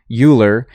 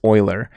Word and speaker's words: Euler: off but it's not it should be ferrous boilers day off because euler had such a profound